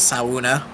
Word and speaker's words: sauna: the OG pronunciation is sauna I hate it I mean that's the original word it's a Finnish word it's not an English word still hate it it's